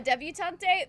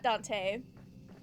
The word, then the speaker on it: debutante: A debutante? Maybe. That might... Actually, debutante, not Dante.